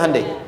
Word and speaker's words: Hyundai: Hyundai kan dibacanya Handai ya kan?